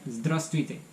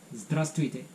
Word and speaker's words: здравствуйте: But usually the second V is not pronounced so much, so it sounds more like здравствуйте. Здравствуйте.